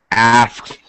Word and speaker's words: asks: Asks sometimes we really shorten the middle sound asks. words, even words, the middle sound r gets shortened. So ass, you barely hear the k.